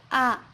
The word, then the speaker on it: あ: it easy to speak and suitable for the context. This letter pronounced a little bit different from English alphabets. In English, A is read like A, but in Japanese, it's read A.